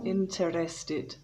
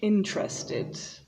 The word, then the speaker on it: interested: pronounced tin mountain interested notice that there are only three syllables so it's not interested but interested and interesting again three